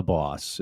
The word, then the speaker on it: Bos: And it's the Boss. The Just boss. for listeners, we can sift through any confusion that you're the boss of this podcast conversation today.